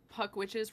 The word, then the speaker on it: Puck Witches: Alec, I don't know if you know this, but Puck Witches rhymes with fuck bitches.